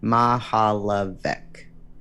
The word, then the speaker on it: Mihaljevic: found i watched closely i learned to pronounce that difficult last name ma ha la vic i memorized the face